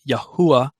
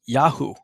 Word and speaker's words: Yahu: See, his name, actually Jeremiah or Yirmiyahu, means Yahuah has uplifted, but it's pronounced Yahu, that portion of God's name that's incorporated into Jeremiah's name, Yirmiyahu.